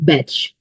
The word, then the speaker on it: Bach: और बैट और बैग बहुत से लोग इसे बैक फ्ला भी बोलते हैं और अगर आप गगल करेंगे तो इट विल प्रोनाउंस बैक ब जो डॉक्टर एडवा बक थे उन्होंने they like to be called बेच और उनकी जो टीम थी उन्होंने इसे बेच फ्लावर रेमेडी के नाम से ही बुलाया है और आगे इसी